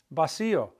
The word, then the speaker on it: vacío: Vacío. That accent mark on the I of vacío is because it's breaking up the diphthong.